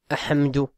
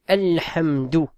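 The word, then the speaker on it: الحمد: Tiens, là, on dit pas ahamdu. On dit alhamdu. Pourquoi? Parce que le ha fait partie des lettres qamarin. Il fait partie des lettres lunaires.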